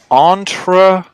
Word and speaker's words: entrepreneur: So look, we have, if we break it down into syllables, we have entrepreneur. Entrepreneur. An entrepreneur. Ner. It's an R. Ner. Ner.